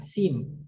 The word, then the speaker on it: seam: It seems, dibacanya seems. I-nya itu panjang, seems. Berbeda dengan jahitan, seam.